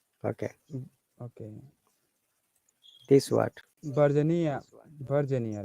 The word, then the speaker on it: Virginia: Virginia, right? Virginia. Virginia. Virginia, Stress on V.